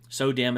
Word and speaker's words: SODIMM: And then when you're talking about your memory, the memory is called SODIMM, or SODIMM. SODIMM is how I pronounce it.